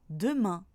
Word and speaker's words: demain: Le E se prononce quand il est dans la première syllabe du mot. Par exemple, dans demain, fenêtre ou encore jeter.